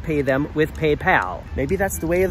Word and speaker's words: PayPal: I don't understand why Germans call it PayPal. There is no O in that word. Where's the pole coming from?